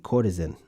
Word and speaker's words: courtesan: Yeah, I was saying it right, except the S is like a Z, courtesan.